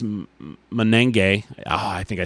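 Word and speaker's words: Monangai: Kyle Monagany, it's just Menenge.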